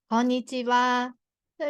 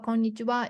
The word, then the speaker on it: こんにちは: But if it's a は、こんばんは or こんにちは is written は. This is a letter は. So は is to how to show is HA, but here is pronunciation is WA わ.